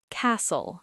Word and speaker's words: castle: Castle. Not cast.